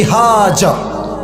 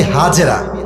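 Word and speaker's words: هاجر: বইয়ের নাম বিবি হাজার। নাম কি বলেন সবাই? আমরা বলি বিবি হাজেরা। এটা সঠিক উচ্চারণ না। আরবি উচ্চারণ হচ্ছে বিবি হাজার।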